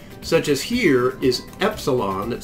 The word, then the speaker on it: epsilon: So instead of calling it E, we call it epsilon, as in the word end, eh.